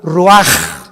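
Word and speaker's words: רוח: Y exhaló Isaac el Roach. Así como suena, se pronuncia la CH en hebreo como J, Roach.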